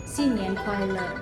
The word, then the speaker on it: 新年快乐: Yang sebenarnya Imlek itu kalau dalam pengucapan orang Chinese itu Xinyan, Oh, tahun baru. Kuaile itu ya. Kuaile gitu, bahagia. Jadi Hmm. sepanjang tahun itu bahagia. Jadi pengucapannya itu Xinyan Kuaile.